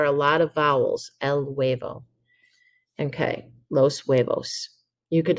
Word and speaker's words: huevo: would be l huevo notice the h is silent but there are a lot of vowels el huevo okay los huevos you